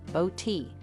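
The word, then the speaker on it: Botti: His name is a nod to my maiden name, Body, pronounced Bo-T, as a way to honor my side of the family.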